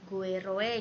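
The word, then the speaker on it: goeroe: Untuk menulisan kata guru, kemudian itu, ini bacanya jadi gueroe gitu ya, itoe gitu, karena memang pada ejaan ini tidak ditemukan atau tidak diterapkan huruf U gitu.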